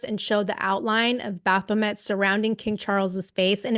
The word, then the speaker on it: Baphomet: And then another social media post said the portrait depicts, I know you can pronounce this better than me, Bom, Baphomet?